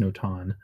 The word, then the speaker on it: Notan: Well, it can be more than 2 tones, but it's actually pronounced Notan.